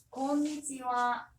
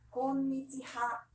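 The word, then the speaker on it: こんにちは: 곤니치와, konnichiwa, 곤니치하. konnichiwa, 저녁 인사 곤방와. konbanwa, 스펠링 곤방하.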